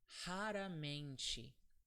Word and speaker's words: raramente: And as you see, this R and this R, they have different sounds in Portuguese. Do you know why? It's because the first R at the end of the word, sorry, at the beginning of the word, it's always pronounced like H, like an H. So it's ha, and the second R is another case of the R sound. It's between vowels.